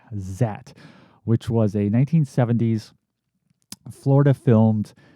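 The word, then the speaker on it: Zaat: That's spelled Z-A-A-T, Zat, which was a 1970s Florida-filmed sci-fi horror monster movie about a scientist who's able to transform himself into a amphibious creature.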